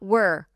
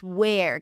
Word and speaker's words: where: It's not were. It's where, cuz then it's going to sound like another word that we are going to talk about at the end.